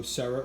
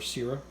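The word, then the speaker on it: Sera: I know Sarah, or Sira, as it's pronounced, is a very well reputable German-based company.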